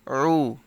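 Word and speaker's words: عُ: আমরা অনেকে আইন পেশ উ বলি, মানে হামজা পেশ উ, আলিফ পেশ উ, এরকম আইন পেশ উ বলে ফেলি, এরকম হামজা আলিফের মতো উচ্চারণ করে ফেলি। সো এরকমভাবে উচ্চারণ করা যাবে না, এটাও হলকের মধ্যখান হইতে উচ্চারণ হবে।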